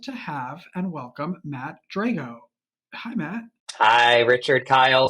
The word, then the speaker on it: Drago: right you did uh there's two different pronunciations Drago is like Rocky four he's the Russian and I'm at I'm a sicilian guy so Drago so Drago Drago I hear both and it doesn't bother